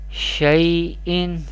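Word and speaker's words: شَيْءٍ: Here zabar before ya sakin, this is ya leen, and leen letters we pronounce without stretching or without sudden pausing, and this is hamza do zir in tanween, we pronounce like this, shay'in, shay'in.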